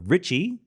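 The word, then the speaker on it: Ricci: this case professor uh richie actually uh professor ritchie's last name was not richie richie is spelled r-i-c-c-i his real name was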